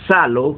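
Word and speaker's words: ψάλλω: Otros que son un poquito más estudiados en el área dicen que aparece una palabra griega que se pronuncia salo, que significa usar instrumentos, cantar usando un instrumento musical de cuerda.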